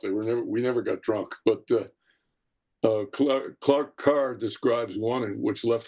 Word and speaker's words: Clark Kerr: Is that pronounced Clark Carr?